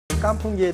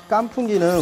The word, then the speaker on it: 깐풍: 그래서 깐이라는 것은 마를 건자에 깐 발음을 하는 거고요. 풍이라는 것은 토사구팽 할 때 그 팽자를 풍으로 발음합니다.